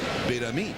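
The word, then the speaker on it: Betemit: And he said, "Betami." It's an accent in the final syllable.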